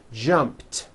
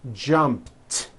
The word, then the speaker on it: jumped: sound at the end jumped of course the word is spelled with an ED ending it's just pronounced as a tee jumped like that the word